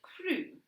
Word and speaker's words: Crum: Actually, it's pronounced croom, corrected Mother. No, it's not, said Dad before his wife shot him a look of utter fury. The Crum family was sitting around